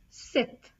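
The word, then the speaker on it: cet: put c e t c e t pronounced as Seth Seth for masculine plural you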